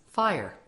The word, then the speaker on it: FHIR: burning question what does fire stand for although it is spelled FH iir it is pronounced as fire F stands for fast